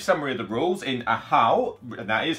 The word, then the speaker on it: Ahau: So to give a brief summary of the rules, in Ahau, that is how you pronounce it, I have checked the rule book,